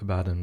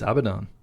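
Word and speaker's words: Abaddon: who first did that I always used to pronounce it a badon by the way I always thought it was a badon but it's not is it it's abidon but like a fool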